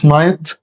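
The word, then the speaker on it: knight: فوكاب نايت نايت كلمه نايت معناها فارس نايت نايت هنا لو لاحظت الك هنا سايلنت نايت ما نطقتش الكي نايت نايت يعني ايه نايت؟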